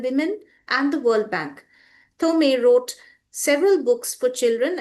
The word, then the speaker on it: Thomé: It's pronounced in different ways all over Brazil. So it's a fine Tom. It's where I live in Rio, it's Thomé, like this.